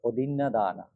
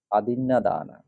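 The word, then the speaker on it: অদিন্নাদানা: একটু যদি খেয়াল করেন বইয়ে আছে অদিনা দানা অদিনা দানা অ থেকে আদিনা দানা আদিনা দানা বলতে হবে আদিনা দানা তারপরে কা মেসো কামেসু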